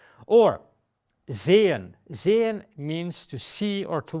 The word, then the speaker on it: sehen: Sehen means to see or to watch, depending on what you want to say. It's sehen. It's long, it's stretched because of the H, but it's not sehen.